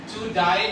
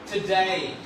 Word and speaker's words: today: to die नहीं कहना, today।